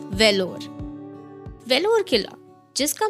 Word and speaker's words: Vellore: एक ऐसा किला जो अक्सर मिस प्रोनाउंस किया जाता है वेलोर नॉट बेलोर not lorry it's वेलोर वेलोर किला जिसका मैं